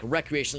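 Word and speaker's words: Wreckreation: Uh really well spelled like recreation like wreck like W R E C Recreation.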